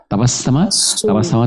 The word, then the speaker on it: তাবাসসুম: তাবাসসামা থেকে তাবাসসুমুন হলো মূল শব্দটা, কিন্তু যেহেতু আমরা ওয়াকফ করার সময় বা নামের সময় আমরা আর শেষের উন বা উচ্চারণ করি না, আমরা সুকুন ধরে পড়ি, তো সেজন্যই আমাদের নামটা হয়ে গেছে তাবাসসুম, সিস্টার তাবাসসুম। দারুণ সুন্দর একটা নাম আপনার।